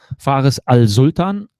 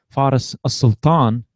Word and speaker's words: Faris Al-Sultan: Well, it depends on whether you pronounce it like the Germans or the Arabs. Well, give me both. This would be interesting. Faris Al-Sultan, this is like the Germans, and Faris Al-Sultan would be the Arabic way.